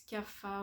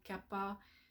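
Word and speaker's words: Kapha: une personne qui est plus CAPA ou Kappa c'est dépend de la prononciation vous allez trouver dans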